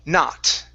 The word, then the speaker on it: not: It is not free. It is not free. Okay, not free. Pronounce that T. Instead of no free, not. It is not free.